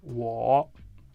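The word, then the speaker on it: 我: pinyin dans langue chinoise le va prononcer comme wo OK l'on dit moins dans langue chinoise on dit wo dans langue chinoise c'est comme ça on dit moins dans la langue chinoise.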